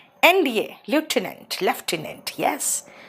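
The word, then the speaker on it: lieutenant: NDA, लेफ्टिनेंट, लेफ्टिनेंट, यस, लेफ्टिनेंट में F नहीं होता ना, लेफ्टिनेंट के स्पेलिंग में ल्यूटिनेंट होता है, नहीं प्रोनाउंसिएशन देखो उसका, लेफ्टिनेंट हो।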